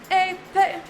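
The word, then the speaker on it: épée: Epee! You pronounce it as melee.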